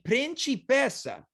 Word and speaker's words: principessa: I wasn't a principessa, aka I'm not a princess. It's just Yeah. too hot. A principessa. Very good pronunciation.